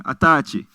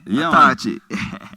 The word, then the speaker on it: Autarchii: So this is an African pronunciation, and we have another Europe. So what's your name? Yeah, the correct thing. Autarchii, Autarchii. yeah. Nasa wisdom and passy. Yeah. Autarchii.